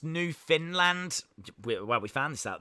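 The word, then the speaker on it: Newfoundland: uh by the way New Foundland it's pronounced New Finland well we found this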